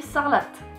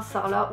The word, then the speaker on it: Sarlat: sarlat ça n'existe pas sarlat c'est de l'occitan sa relaxe et en dordogne donc on dit ça relate après je sais très bien que selon les régions linguistiques en fait on prononcera sarlat où ça relate dans